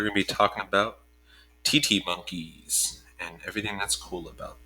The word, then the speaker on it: titi: right today we're going to be talking about tt monkeys and everything that's cool about them just let the breakfast show the safaki monkey is my favorite just saying okay um but tt monkeys are my second favorite so that's okay so